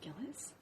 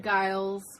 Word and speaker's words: Gillis: They're like, Gillis? You know How do people mistake your name? Giles, Gills, Oh, all the time.